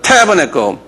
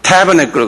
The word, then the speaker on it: Tabernacle: Tabernacle. 이렇게 액센트가 타에 있어요. 한번 발음해보자. Tabernacle. 예. 이것도 Tabernacle 그래요.